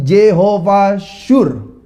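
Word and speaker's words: Jehovah Tsur: coba adalah jehovas syur Kalau saudara mau tulis tulisannya itu TZ UN Tapi bacanya itu jehovas syur Yo what's your itu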